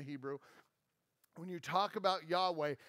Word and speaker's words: Yahweh: when you talk about Yahweh it actually phonetically is the sound of breathing the sound of breathing